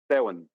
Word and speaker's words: Samhain: Samhain. Samhain. Okay, just think of Sow, S-O-W-W-I-N. She wants to know so she can teach the girls about it. Samhain.